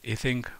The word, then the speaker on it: Ising: The most popular model is the so-called Ising model. Mr. Ising was a German, so I believe it's more appropriate to pronounce his name as Ising, not Ising, as you can hear from English-speaking people.